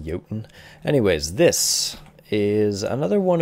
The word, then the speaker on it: Jotun: today we're in a game called yoton or jhoten depending on who you ask i'm pretty sure it's pronounced yotan anyways this is another